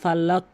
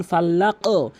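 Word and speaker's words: فلق: আরেকটি মিস্টেক করে থাকে ফালাক বলে ফালাক এখানে কিন্তু সাউন্ড করতে হবে কলকলা সাউন্ড ধাক্কা যেমন ফাল্লাক এই কলকলাটার নিয়ম ভালো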